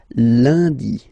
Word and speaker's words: lundi: Okay, remember, UN is pronounced like un, lundi, lundi, lundi.